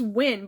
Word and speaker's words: Hwin: Okay, and her horse's name is Win. I thought it was Win, but it's actually spelled Hwin.